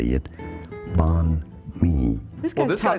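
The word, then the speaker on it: Bánh mì: Banh mi.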